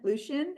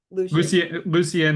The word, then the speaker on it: Lucian: Lucian, is that how you pronounce your name? Yeah, I can tell. Lucian, great feedback. Lucien, if you're French.